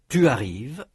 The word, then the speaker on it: tu arrives: Note in particular that the S of tu arrives is not pronounced, nor is the final NT of ils arrivent.